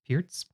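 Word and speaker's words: Pirc: pierce defense this is sometimes called the perk defense but i think it's correctly pronounced pierce and this happens after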